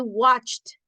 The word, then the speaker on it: watched: I watched. Watched. Se escucha como una T. No se oye la E. No se escucha la E ahí.